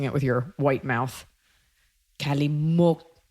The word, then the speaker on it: Calimocho: Calimocho. Calimocho. What do they do with that X? But then they have it written with a CH as well.